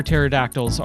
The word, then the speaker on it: pterodactyls: The reason you can't hear pterodactyls is when they go into the restroom is because the P is silent.